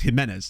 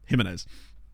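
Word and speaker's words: Jiménez: I still end up saying Jimenez wrong, because I know it's Jimenez, not Jimenez.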